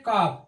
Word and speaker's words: calf: जैसा कि आप देखते हैं CALF, यह वावेल है A और A के बाद L आया, यहाँ साइलेंट हो जाता है। हम पढ़ते हैं काफ, काल्फ नहीं पढ़ते, इसको काफ पढ़ते हैं।